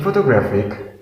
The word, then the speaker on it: photographic: third example is photographic in photographic there are four syllables and we put the stress on the third syllable so we say the